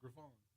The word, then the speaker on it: Griffon: Griffin, I yeah. hear him say that all the time, Right. and he's like, "It's not Griffin, it's Griffon."